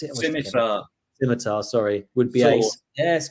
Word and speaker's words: Scimitar: But yeah, funnily enough, we've got potentially one of your favorites, Reliance Schmitter. How do you pronounce it? Scimitar, sorry.